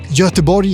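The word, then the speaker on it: Göteborg: English name as well as a Swedish name jotabori is the Swedish name but as you know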